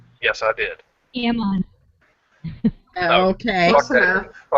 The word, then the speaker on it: Ammon: you say did you say his name was ammo yes I did Ammon okay that he's a he's